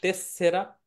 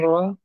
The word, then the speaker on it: tessera: তেসরা বলে, সানিতো তেসরা, এই তেসরা ন না তেসেরা sanitaria শব্দটা উচ্চারণ হবে tessera, অনেকে বলে হচ্ছে পেরমেসো দি sanatoria, সৌজন্য নাকি সহ্য, permesso di soggiorno সৌজন্য।